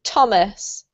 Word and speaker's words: Thomas: And this one, Jose, is not th, but actually a T sound, so it's a bit tricky. Thomas.